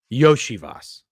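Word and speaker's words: Iosivas: Yoslavis. Oh, Yoshi Boss. Yoshi Vas.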